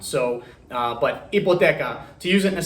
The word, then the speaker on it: hipoteca: The H at the beginning of a word is literally probably the only example I can think of a letter being in a Spanish word that doesn't have a sound. So, but hipoteca, to use it in a sentence, quiero solicitar una hipoteca.